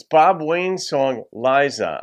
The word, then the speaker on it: Lyza: it's Bob Wayne's song Liza I think you'd say it lies and not Lisa but there are different pronunciations but I'm going with Liza I went to school